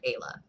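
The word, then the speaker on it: Aila: Ayla is our main character, spelled A-I-L-A. I think I'm pronouncing her name right, Ayla.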